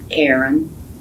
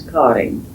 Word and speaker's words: Karin: Well, it's just a a typically Swedish name spelled the Swedish way and pronounced the Swedish way. I answer to Karen, about anything. But my name is Cotting, spelled A R I N.